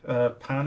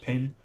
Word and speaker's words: Pin: Dorian Pan, I think it's pronounced, not Pin, won the race, so congratulations to her, the French driver.